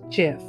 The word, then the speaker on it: GIF: he led the invention of the popular graphics interchange format or gif which he pronounced jiff willhite is being remembered